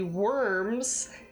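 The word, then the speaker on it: wyrms: So we did a rite against the worms. Okay, and it's spelled like W-Y, you know, R-M, like a reptilian worm, but they're literally just like little worm guys.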